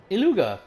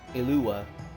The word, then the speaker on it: Iluga: Iluga, you underestimate yourself yet again. Master Ilua. Ilua. I was I was actually pronouncing the G. Ilua.